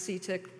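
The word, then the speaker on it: CTIIC: is CTI I see which we pronounced see tick despite the double I it's got two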